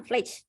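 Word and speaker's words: FLACC: Skala Fletch, namanya bacanya Fletch.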